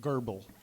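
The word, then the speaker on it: Goebel: fellow named gerbil reeves no r in his name not in his first name but that's how you pronounce it gerbil g-e-o-b-e-l and he taught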